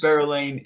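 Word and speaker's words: Berelain: I have not mispronounced Berylane, yeah, Berylane. That's how they pronounce it in the book.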